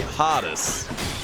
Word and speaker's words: Hades: of the game himself we'll call him Hades we say hottest which by the way